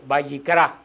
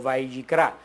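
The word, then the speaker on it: ויקרא: No sé si se recuerdan cómo cómo se dice el nombre del Levítico en hebreo, Vayikra, que es la primera palabra del libro del Levítico, Vayikra, que quiere decir llamó.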